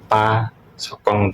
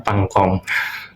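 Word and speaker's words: パソコン: Kalau laptop itu pa sokong. Tulisannya kayak gini pa so ko dan pasokong. Nah, untuk ya ini pengalaman pribadi dulu saya bacanya pangkong tapi ya karena sudah belajar jadinya pa sokong itu dulu banget ya.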